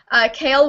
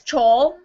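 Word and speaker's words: Chaol: My friend thought that Kale was Chol for her whole entire time.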